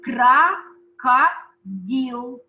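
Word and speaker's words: крокодил: can read it because the pronunciation is very uh same as russian uh it's crocodile in russian it's kraka deal look at letters i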